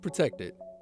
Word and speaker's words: Protect3d: find out what they got going on meet protected stylize with the three force three founders but pronounced protected there are dormbase start-up specializing in customized medical